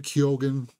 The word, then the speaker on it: Keoghan: I got Mikey Madsen, Joe Manganiello, Anya Taylor-Joy, Ralph Ineson, Numi Rapace, Barry Keoghan, where he says he pronounces the G.